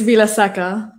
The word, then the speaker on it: Vilaseca: say your last name it's vila saka villa and uh i'm if